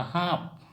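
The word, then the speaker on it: সাপ: का हा उच्चारण होगा हाप लिखते टाइम में हम साप ही लिखेंगे साप लिखेंगे लेकिन उच्चारण जो होगा समया का हा मछली मछली को हम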